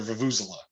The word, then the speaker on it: vuvuzela: go there and chant nonsense and play their vuvuzela, right? More ridiculous bullshit. Wait, the vuvuzela is that long horn. Vuvu. It's Yep.